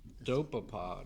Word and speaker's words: Dopapod: Year's Eve night as a band called dopapod dopapod yep it's spelled D o p a p o d